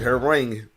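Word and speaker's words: Hwoarang: That's how you pronounce it, Harang.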